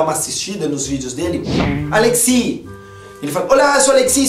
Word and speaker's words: Alexis: Aliás, Alexi, porque S em francês é mudo.